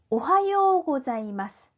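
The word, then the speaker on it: おはようございます: 오하요 고자이마스. 오하요 고자이마스. 이렇게 읽습니다. 오하요에서 요우가 장음이 되죠.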